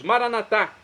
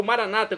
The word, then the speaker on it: maranatá: E agora eu clamo do aramaico, dialeto de Jesus, maranatá, como dizemos nós católicos, ou maranata, como dizem nossos irmãos, separados das comunidades evangélicas ou protestantes. Não importa a pronúncia, o significado é o mesmo.